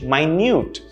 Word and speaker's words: minute: small minute right minute notice the pronunciation change and also the stress change my newt right something that's very